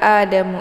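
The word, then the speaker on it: آدَمُ: Kemudian Adamu, a dibaca panjang. Di sini ada harokat fathah berdiri tegak yang terdapat pada hamzah di awal kalimat. Ini dinamakan dengan mad badal ya.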